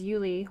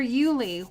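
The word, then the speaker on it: Iuile: Lori Lee, they're Yuli watercolors. It's the weirdest thing. It's I-U-I-L-E, and it's pronounced Yuli, is what I've heard.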